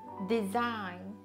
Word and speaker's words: design: Design、 Design、発音しないですよね。